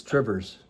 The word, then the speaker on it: Two Rivers: If you're going to talk localese, it's Trivers.